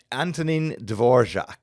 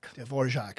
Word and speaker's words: Antonín Dvořák: Antonín Dvořák. Dvořák.